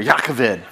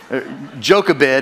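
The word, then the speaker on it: Jochebed: no Googling so it's pronounced it goes It's pronounced jakaved jakaved you have to get a little bit of Hocking in there yakovid djokabed is the way you might see it on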